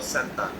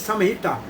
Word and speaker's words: Samhita: So how we pronounce it? Samhita or Santa?